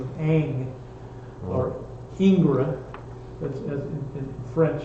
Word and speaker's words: Ingres: Ingres, and pronounced Ang, and look him up.